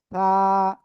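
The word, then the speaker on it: ث: আপনার জিহ্বার আগাটা উপরের 2 দাঁতের আগায় লাগান, লাগিয়ে হালকা নরম করে বাতাস বের করেন। দেখেন এভাবে করে যে বাতাস বের হচ্ছে কিনা। থা, থা, থা, থা, এই যে থা, থা, থা।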